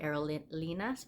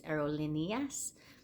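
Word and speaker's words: Aerolíneas: be saying it right I call it aerolas but I think it's aerolineas um that's the AR one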